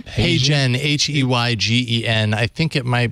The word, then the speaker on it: HeyGen: yeah it really is how yeah can you spell that that service you said hey Jen h-e-y-g-e-n I think it might be hey Jen